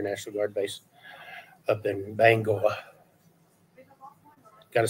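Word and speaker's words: Bangor: was teaching Air National Guard base up in Bango gotta say it right yeah I like it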